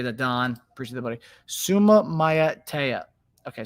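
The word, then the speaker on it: Suamataia: Suma Matea. Okay. I appreciate that, Don. Appreciate that, buddy. Suma Matea. Okay, Sum Matea.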